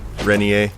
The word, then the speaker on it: Rentier: You're Jesse Rentier, sir. Splendiferous. He's actually saying it correctly. Rentier.